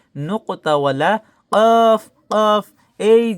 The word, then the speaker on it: ق: কফ উচ্চারণ হবে জিহ্বার গোড়া তার বরাবর উপরের তালুর সঙ্গে লাগাইয়া 2 নোক্তাওয়ালা কফ।